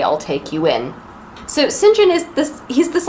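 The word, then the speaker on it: St John: rivers that is felt saint john it's pronounced sinjin why i don't know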